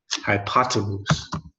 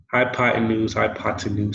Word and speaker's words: hypotenuse: Now, because Americans don't usually like to pronounce the letter T, actually, yeah, it is a thing that us Americans do. We tend to change the letter T to a D sound, hypotenuse.